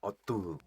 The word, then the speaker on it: Artaud: the Artaud Theater. So you gotta pronounce it with a French accent. Artaud.